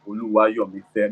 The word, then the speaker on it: Oluwayomife: I bear a powerful Yoruba name, Oluwayomife, pronunciation Oluwayomife, meaning God chose to love him.